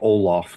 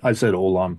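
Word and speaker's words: Ollam: It's Deviant Olam, by the way. That's how you pronounce that. Okay. Even, I said Olam for years. I said Olam. So we interviewed him, but it's Olam.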